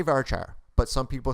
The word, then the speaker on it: varchar: Now let's talk about varchar or varchar, depending on your dialect. I say varchar, but some people say varchar.